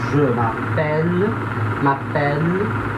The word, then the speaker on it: je m'appelle: Repara que essas palavras que tem o E no final, esse E, ele é quase mudo, né? Tirando o G, né? O G não, o G é forte. Mas essas palavras que tem mais de uma sílaba e que terminam em E, esse E é quase mudo, né? Que é o je m'appelle, tá? Aí tipo, o som para no L.